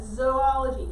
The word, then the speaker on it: zoology: right we call that zoology kind of like it has the word remember jaden raise your hand okay but remember it sounds kind of like you're saying zoo so animals live in